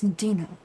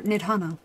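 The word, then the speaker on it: Nidhana: returned but where is mistress ninaa or nidana I don't know why I said her name wrong Mana preserve just when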